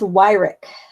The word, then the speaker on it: Weirich: It's Weirich. Yes. People are like, how do you spell that?